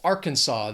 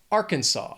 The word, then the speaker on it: Arkansas: 3 syllables, stress is on that first syllable. Arkansas.